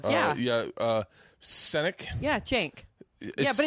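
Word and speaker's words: Cenk: my gosh wonderful yeah yeah uh siic yeah Jank yeah but it's it's spelled Cen K but it's pronounced Jen Jank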